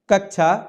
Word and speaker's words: कक्षा: नहीं है नेक्स्ट है कक्षा का शुद्ध उच्चारण है शुद्ध उच्चारण किस प्रकार से साथियों होगा ऑप्शन नंबर सी यहां पर क है फिर आधा क है यानी कि व्यंजन रहित फिर मूर्धन्य श तो इस प्रकार से